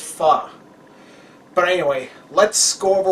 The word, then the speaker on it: pho: It's pronounc it's spelled pho, but is actually pronounced fu.